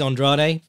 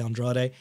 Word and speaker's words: Andrade: for me was Demetrius Andrade or well it's spelt Andra like all the you know all the Brazilian Fighters we're used to but he's American so I believe they say Andrade um he's been a